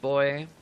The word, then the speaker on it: buoy: whatever you call it I think it's pronounced boy which just never makes